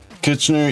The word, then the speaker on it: Kitchener: Kitchener, yeah, that's how you spell it. Kitchener is a way to, it's like kitchen, or like you had it right the first time.